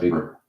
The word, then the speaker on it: Weber: Another important early theorist was Max Weber pronounced paper.